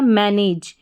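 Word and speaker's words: manage: तो यहां पर एम ए एन को पढ़ा मैन और ए डी ई। इसको एज पढ़ेंगे। तो ये बन गया मैनेज।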